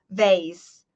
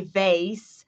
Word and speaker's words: vase: By the way, this is the difference between American pronunciation, North American pronunciation, and English pronunciation, British pronunciation.